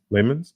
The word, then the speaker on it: Leemans: That's how she pronounced it in her intro, right? Leemans? That's right, yes. Leemans. So maybe we're gonna have to get used to pronouncing that.